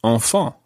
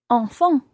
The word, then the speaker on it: enfants: And the plural of this, the word for children, sounds exactly the same, although it's got a silent S on the end. So you would say enfant. Enfant.